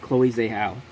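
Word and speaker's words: Chloé Zhao: check this okay i did say it right chloe zahl uh documentary feature i've not seen any of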